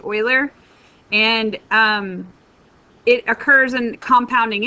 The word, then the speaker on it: Euler: It's called the natural number, or the Euler number. E, it starts with EU, but it's pronounced Euler.